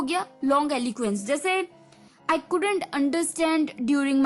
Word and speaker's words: longiloquence: LONGILOQUENCE, long एलुक्वेंस, long एलुक्वेंस। इसकी pronunciation है long एलुक्वेंस, LONGILOQUENCE, long एलुक्वेंस।